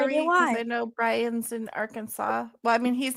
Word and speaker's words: Arkansas: Arkansas, and actually He's the from state is Central pronounced Arkansas.